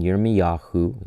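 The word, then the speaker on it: ירמיהו: So Jeremiah then, Yirmiyahu is how you say his name in Hebrew, chapter 31, verse 31.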